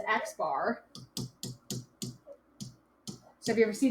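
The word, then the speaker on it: x̄: use this notation and it's read as x bar so if you ever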